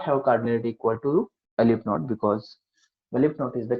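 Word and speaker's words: aleph-null: pronounced as alpha, and the symbol, this is pronounced as alif naught.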